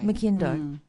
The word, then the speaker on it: McIndoe: So how do you pronounce it? McIndoe.